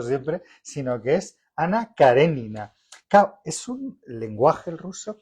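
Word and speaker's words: Karenina: No es Ana Carenina que hemos dicho siempre, sino que es Ana Carenina.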